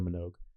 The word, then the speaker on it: Minogue: Kylie Minogue.